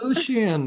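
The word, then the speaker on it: Lucien: whatever his name is okay how do you pronounce it Lucian Greavves Lucian okay Lucian you said we could debate and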